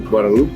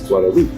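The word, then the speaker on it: Guadeloupe: find out um that it's not GL gualo it's guadaloop right um is how they pronounce it the letter was beautiful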